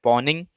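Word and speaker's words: pwning: be a pawning challenge poning is pw and ing we usually pronounce this porn you can also call it pawning so uh pawning challenges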